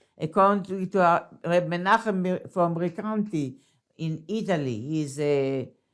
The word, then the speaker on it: Recanati: So according to that opinion, that is expressed in the Pardes and the Reb Menachem of Recanati, how you say it in Italian, Recanati. But, so what's the difference between the Kelim, the Oros, so what does it mean?